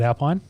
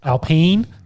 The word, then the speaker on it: Alpine: grade um with he's not with is it alpine yep alpene actually let's tell us that alpene yes um